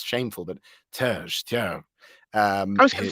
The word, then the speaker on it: Terje: Now, I don't think I'm pronouncing his name right. I know it's shameful, but Terj. I was going to say Terje, so we were both Terje, close.